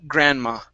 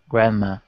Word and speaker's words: Grandma: right let's go to Grandma okay in this word the D is not pronounced okay Grandma Grandma okay very good and